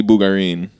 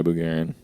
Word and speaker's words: Bugarin: that we said that te technically bugarin but my dad has always gone by Bugan look at all oh